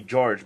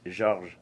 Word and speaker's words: Georges: Everybody call me George, but it's Georges. Georges. Yes. I'm gonna start saying French. it like that. Okay, Georges. Like John in English, and in French it's Jean. G-E-A-N.